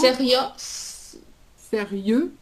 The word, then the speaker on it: sérieux: H Et attention parce que quand tu prononces sérieux Ah moi j'entends souriant. Alors c'est pas du tout la même chose. C'est c'est Oui. Oui. Sérieux sérieux et souriant.